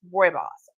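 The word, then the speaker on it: Rooibos: It is pronounced Roy Boss.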